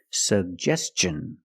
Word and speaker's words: suggestion: pronounce both of them the first G is a hard G sound sug and the second G is the J sound like juice and jump pronounce both sug Gest suggestion and t i o n the T makes the CH sound so together suggestion suggestion put the stress on the second syllable he made a suggestion